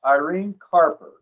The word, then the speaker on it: Irene Carper: So anyway, my guest today is Irene Carper. Am I pronouncing that right, Irene?